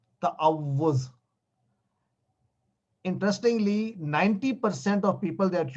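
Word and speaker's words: تعوذ: ता पे जबर डालें, त, आइन पर जबर आ, ता, उसके बाद वाव 2 दफा लिखे क्योंकि वाव पे तशदीद है। तअव पेश पे वाव पेश और फिर जा। तअव्वुज़, सारे बोले तअव्वुज़, तअव्वुज़, तअव्वुज़, तअव्वुज़, तअव्वुज़।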